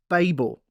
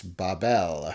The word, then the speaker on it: Babel: maybe we're both wrong well i'm gonna stick with babel because it's what i know and it's it's how um we tend to pronounce it here and i'm going to probably say yeah i'm going to say babel cause i'm an american and that's what we